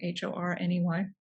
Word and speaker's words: Horney: Her name was Karen Horney, although it's spelled Horny, but I've heard it pronounced Horney, Horney.